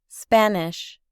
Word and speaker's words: Spanish: Observe que sh se pronuncia como una ch suave. Spanish.